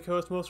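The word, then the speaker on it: KOS-MOS: am cool suppose not cosmos call about dead anything else i will pronounce the coast most forever until the day i die xenosaga anime for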